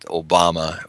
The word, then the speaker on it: Obama: at last before his second term is over pronounce Obama's name properly in the Swahili way that Obama is is Obama um and UB means it's